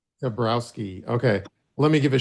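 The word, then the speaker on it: Toborowsky: Like, how do you pronounce his last name? Oh, Tabrowski. Tabrowski.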